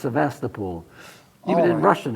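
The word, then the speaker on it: Sevastopol: seem to remember hearing it said no it's Sebastapol even in Russian it's svasta pool yeah how would you pronounce it sast get in where did you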